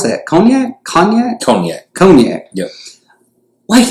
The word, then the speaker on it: cognac: what hennessey konya is that how do you pronounce that cognac cognac cognac cognac yup wait a minute is